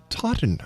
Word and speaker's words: Totten: I'm sorry, that's Totten. How do you say that, Mike? Totten Trilogy.